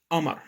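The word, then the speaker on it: قمر: arabic or shammy arabic we do not pronounce the letters for example the word hammer means moon we pronounce it as amar we're talking about a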